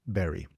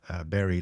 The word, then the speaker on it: Barry: uh I would hire Barry. And Barry is a fellow Dutchman. Um we actually pronounce it Buddy, but that let's not complicate things.